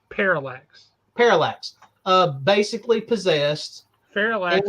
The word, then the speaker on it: Parallax: and falx is Hal how Jordan basically it's Parallax Parallax uh basically possessed parallx is something entirely